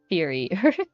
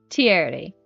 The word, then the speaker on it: Thierry: Thierry. Not theory. Thierry.